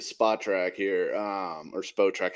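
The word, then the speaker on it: Spotrac: track here um or SPO track I never know how to pronounce it it's boat track apparently okay all right so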